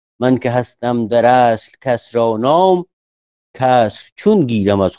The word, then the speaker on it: کسرا: اینو من عمده میگم کسرا دیگه، اگرچه تلفظ باستانی چیز دیگه بوده ولی یه خوش می نشینه دیگه، کسرا با کسر.